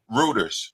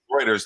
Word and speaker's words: Reuters: This again is courtesy of Reuters, or I think that's how you pronounce it. Reuters. Sorry, Reuters.